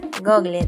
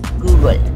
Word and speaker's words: Google: Si tú eres de los que pronuncia Google, déjame decirte que está mal, ya que la pronunciación correcta es Google.